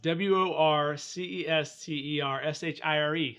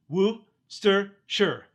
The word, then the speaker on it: Worcestershire: pronunciation guide tour it it's whoo stir sure Worcestershire sauce Worcestershire sauce because it comes from Worcester England moister England there's not